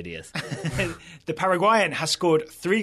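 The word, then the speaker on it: Díaz: He's Paraguay, so I'd say Diaz. All right. So, and is playing for Real Madrid, so I'd definitely say Diaz.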